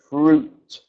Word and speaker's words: fruit: the word fruit so make sure we pronounce the T sound so fruit um I love to